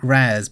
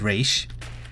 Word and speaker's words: Ra's: Yes, in Arrow, most of the casts say Raz because they got told to by some idiot who didn't know how to pronounce his name. But then they have the characters who are actually non-American and they pronounce it correctly. Like the lady who played Nissa said Raish. And I believe the lady who played Talia also pronounced it correctly.